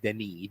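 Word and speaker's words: Denis: I think he's a great He's French, so it's Denny. It's spelled Dennis with one N, but it's Deni.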